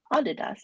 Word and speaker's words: Adidas: their family name and it was actually Adidas is how it should be pronounced. So I'm relating this story